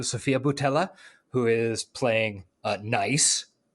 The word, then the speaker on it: Nice: bhella who is playing nice nice it's pronounced niece exactly I was talking